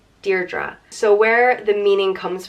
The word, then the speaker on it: Deirdre: of the sorrows and it's pronounced dear DRA Deirdre so where the meaning